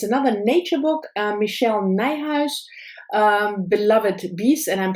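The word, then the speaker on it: Nijhuis: has the website and the website is called rhymes with my house so i guess she pronounces her name nigh house this is just what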